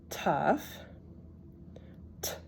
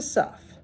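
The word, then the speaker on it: ת: next letter which is a tough T and this is a suff but in the spartic pronunciation it's also a tough so in the other pronunciation it's a s but here we're we're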